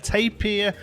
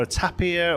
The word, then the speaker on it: tapir: straight away we have a tapir or at a pier or a tea pierre or there's lots of different ways you can pronounce it they've depending on where you're from in the world but even still there